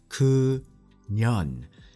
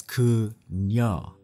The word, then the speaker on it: 그녀: If you say 그년, 년 is basically like saying be. The proper way to say it is so close. That's why it's so ironic. It's 그녀. 녀 means girl, and that's perfectly fine.